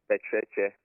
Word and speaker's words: Pekyerekye: This how do we pronounce it? Pekyerekye? Pekyerekye.